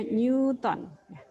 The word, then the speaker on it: Newton: bukan dia meong-meong on itu tulisannya tapi dibacanya Newton Hukum Newton Oke pasti